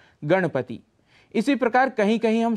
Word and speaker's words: गणपति: पर मनाया जाता है, अक्सर वहाँ पर हम णकार के स्थान पर नकार का प्रयोग करते हैं। उदाहरण के लिए गणपति, ऐसा उच्चारण कर जाते हैं, इसका शुद्ध उच्चारण है गणपति।